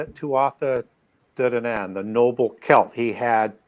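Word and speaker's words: Tuatha Dé Danann: Tuatha de Danann. Some people just say Tuatha Danann.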